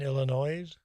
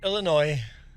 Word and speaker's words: Illinois: Juan pizza and a just pizza from So from Illinois. So you're from Illinois yourself and the S is silent.